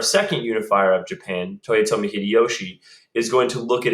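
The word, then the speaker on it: 秀吉: remember that then Toyotomi Hideyoshi is the one that bans all Christian worship is is to say hide Yoshi he's a Christian and we look at Hideyoshi it's spelled that way so it always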